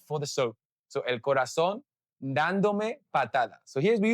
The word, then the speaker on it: corazón: El corazón, that's how I would say it, el corazón, but people from Spain would actually say el corazón.